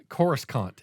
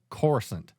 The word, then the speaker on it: Coruscant: on calling it Coruscant chorus Kant and I'm like when you say chorus you're coming very close to saying a different word so call it chorusant that's how everyone pronounced and I'm like don't